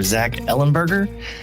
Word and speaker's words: Zach Ellenberger: So, today in the virtual studio, I'm joined by author Zack Ellenburgger.